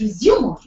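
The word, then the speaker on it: résumé: know as resume so the word is resum but the pronunciation the spellings they remain the same but in that context in the professional context when you're submitting this word resume becomes resum most of the professionals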